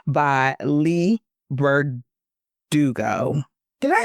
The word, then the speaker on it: Leigh Bardugo: I want to get her name right, by Leigh Bardugo.